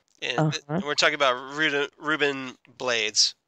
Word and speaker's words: Blades: we're talking about reuben blades character bladis however you pronounce it it's blades i thought it was like there's an affect there there is okay but it's still blades okay blades and uh so